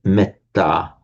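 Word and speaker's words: mettā: So, for example, the word metta is in Pali, it's pronounced as a short e.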